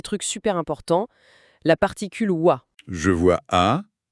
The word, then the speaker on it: は: Même si ça s'écrit avec le hiragana ha quand elle est utilisée comme ça, comme particule, on la prononce wa.